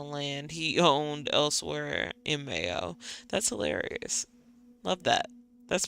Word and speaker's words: Mayo: the Irish Mike EO pronunciation Mayo much like the condiment got it crohan crohan